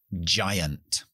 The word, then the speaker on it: giant: es un poco complicado la g cuando va adelante de una y o de una e coge su forma de que es ya ya este símbolo fonético lo utilizamos para en realidad como la c h con voz ya ya entonces si yo digo por ejemplo alemán llaman ya no es game sino llaman o gigante giant giant la letra la H